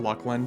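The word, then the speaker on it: Luclin: It's pronounced Lucklin, just ask old devs.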